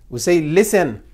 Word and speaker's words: listen: This T, is it pronounced? No, it's not pronounced. When you say, we don't say listen. We say listen.